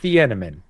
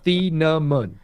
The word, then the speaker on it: Thieneman: We mispronounced your name for 2 straight months. We said Thieneman. And a buddy of mine from Oregon reached out and said, I love you. Your content's amazing. Thanks for taking time and answering my questions. Hate to be that guy, but it's Thieneman. Thieneman.